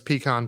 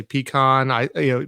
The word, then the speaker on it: pecan: Being close to Georgia, but also growing up in Texas, pecan pie is the thing. And I don't know if I'm saying it right. Some people say pecan. Pecan. How do you say it?